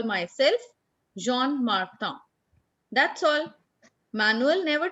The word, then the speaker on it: Jean: In English, we will pronounce it Jean Martin, but in French, it's Jean.